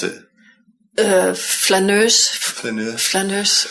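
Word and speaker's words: flâneuse: Flaneur, how do you pronounce it? Flaneuse.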